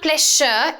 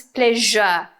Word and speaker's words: pleasure: It's not pleasure, it's pleasure. It's a pleasure to meet you. Pleasure. Okay, like television, pleasure. Don't say pleasure, right?